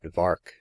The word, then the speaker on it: Vark: in the neighborhood that Vark was made to rhyme with shark, as emblematic of the estimation in which he was held.